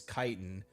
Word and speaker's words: chiton: know that though that's c h is pronounced with a k, not ch the way it is in English.